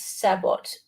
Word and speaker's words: sabot: The shells are typically marked as sabot, pronounced sabo.